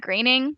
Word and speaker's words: Groening: Although I feel like that kind of makes sense because I know that it's a Matt Groening.